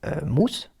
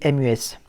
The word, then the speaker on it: Mus: une personne dans mes contacts qui s'appelle Mousse, mais ça s'écrit MUS, si vous voulez. Et donc, je veux par contre que ce soit pas prononcé mu, mais mousse.